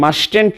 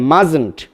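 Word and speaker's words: mustn't: Meant, মাইটেন্ট, এটার উচ্চারণ মাস্টেন্ট নয়, হবে মাজেন্ট, মাস্ট যোগ নট, মাজেন্ট, like this, N অ্যান্ড টি।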